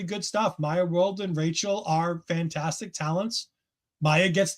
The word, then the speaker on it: Rachel: I I keep wanting to say Rashelle because I feel like there's a letter missing for Rachel, but they did pronounce Rachel.